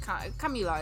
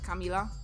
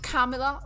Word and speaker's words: Kamila: my name in Polish, like Kamila is my name in Polish, like it's pronounced the way I say it, like Kamila, and not Kamila or something, like it's Kamila.